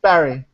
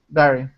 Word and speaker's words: Barry: we pronounce that name so how do you pronounce your middle name it's just Barry Barry okay so I think I win who won I think well I say Berry like a fruit now Jezebel the you wrote